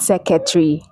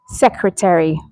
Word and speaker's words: secretary: The second word is not secretary, it's secretary. Secretary.